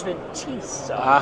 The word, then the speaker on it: Fintiso: So that's the new rule. I can't say Fintiso anymore. I have to say Fintiso. Hey, look it, it's tomato, tomato, right? It is okay. How you pronounce it, it's all fair. Because jewelry, and it's high class now, so it's Fintiso. Kind of that Italian sound.